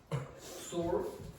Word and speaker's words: sword: Sword. Yeah. W. Yeah. The W is not pronounced.